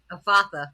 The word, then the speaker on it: Ephatha: Ephatha, yes.